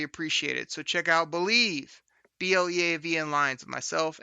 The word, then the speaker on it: Bleav: You can also find my other Lions podcast called Believe in Lions. That's spelled BLEAV in Lions on the Believe Podcasting Network, dropping every Thursday morning as well.